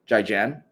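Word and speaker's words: 再见: Zaijian.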